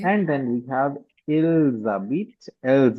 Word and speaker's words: habitent: and then we have ils habitent, elles habitent. Okay. ENT is never pronounced in the words.